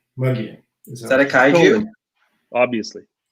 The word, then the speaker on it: Mogollon: Mogollon Monster? Yeah, it's Muggian.